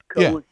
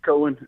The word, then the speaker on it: Cohen: Cohen. Yeah. Mm-hmm. Cohen.